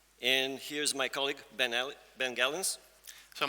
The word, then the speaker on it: Gelens: here's my colleague Ben gallons so my name is Ben felens that's the Dutch pronunciation yep I'm a consultant